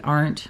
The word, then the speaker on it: Arndt: But once I heard them say it, I'm like, oh, it's pronounced exactly how it looks.